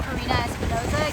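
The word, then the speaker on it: Karina Espinoza: Can you uh tell me your first and last name and spell it for me? Yes. My name is Karina Espinosa.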